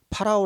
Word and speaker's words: 파라오: 라고 본 발음 하는데 원래는 파라오 라고 발음하는 게 낫죠 사실 우리가 우리 성경이